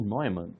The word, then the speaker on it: Neumann: O John von Neumann, é estranho falar Neumann, mas é assim que pronuncia, ele aproveitou o aprendizado